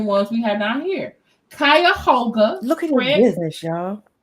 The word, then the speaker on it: Cuyahoga: He is getting arrested for contempt in Kuga Yoga. Is that how you say it? Cuyahoga.